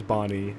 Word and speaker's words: Banny: Yeah, I mean, I pronounce it Banny. I don't care. It's just, you know, that's it, whatever. So everyone on the team says Banny, but if someone says Bonnie... Yeah, that's fine.